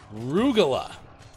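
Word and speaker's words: rugelach: Rugula is how it's said, says Deuce.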